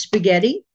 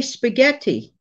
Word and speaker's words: spaghetti: I love the way some people pronounce spaghetti. I have heard some Italians, you know, from Italy, they don't say spaghetti. They say spaghetti. Spaghetti.